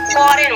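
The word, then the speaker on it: foreign: फॉरेन बोलते हैं और यहाँ पे देखिए एन से पहले क्या है जी आया, ठीक है। इनको हम जी को साइलेंट रहता है और इसको हम प्रोनाउंसिएशन नहीं करते हैं, ये मुक होता है, हम कैसे बोलेंगे फॉरेन बोलेंगे।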